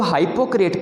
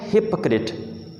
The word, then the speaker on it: hypocrite: इसे लोग हाइपोक्रेट पढ़ते हैं, जो कि गलत है। इससे आप पढ़ना है हिपोक्रेट। हिपोक्रेट, हिपोक्रेट पढ़ना है इसको, ठीक है, हाइपोक्रेट नहीं पढ़ना।